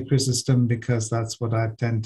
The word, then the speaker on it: Chrysostom: to say i mean most english-speaking people uh would say chrysostom because we tend to pronounce on the first syllable um but in in